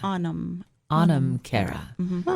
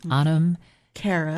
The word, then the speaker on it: Anam Cara: Anam Cara. Spell that. A-N-A-M. A-N-A-M. A-N-A-M. Anam Cara.